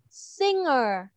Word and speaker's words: singer: Ở trong cái từ này thì cái âm g này nó không có phát âm là âm g, nó là âm ng, ng.